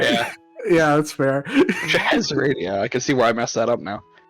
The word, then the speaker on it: Scheherazade: It's pronounced Scheherazade, Josh.